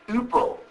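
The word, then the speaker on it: ὑπό: Upa, in Sanskrit, is, the Greek H is silent, like honor or hour. Like what hour, how many hours, and so on. So, Sanskrit upa is just the Greek upo.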